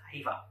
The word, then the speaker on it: EYVA: According to bluesemi, the device is pronounced as EYVA with an I, but I don't know